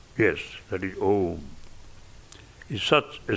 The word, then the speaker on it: Om: The first letter A is the root sound, the key, pronounced without touching any part of the tongue or palate. M, represents the last sound in the series, being produced by the closed lips.